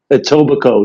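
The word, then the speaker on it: Etobicoke: Uh, I forgot how to pronounce that. At mean tobico. Atobbico.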